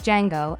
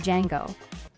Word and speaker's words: Django: is the Odyssey of Django. D-J-A-N-G-O. The D is silent.